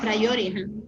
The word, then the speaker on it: priority: Priority. No, priority. It's 1, 2, 3. Priority. 4 syllables. Priority.